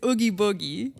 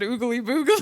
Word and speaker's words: Oogie Boogie: It's Oogie Boogie. Oogie Boogie. Do I get it? I don't know. You said Oogly Boogle.